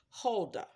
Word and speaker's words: Huldah: Now, I know that I'm probably going to be pronouncing this wrong, but I'll spell it first. Her name was H-U-L-D-A-H. And I'm going to say it was Huldah.